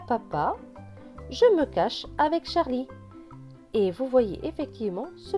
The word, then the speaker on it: Charlie: ne se prononce pas, Charlie, le E à la fin est écrit en gris, donc il ne se prononce pas.